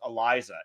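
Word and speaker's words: Elisah: ramp 1-1 eliza spencer i think it's pronounced eliza e-l-i-s-a-h so eliza spencer 24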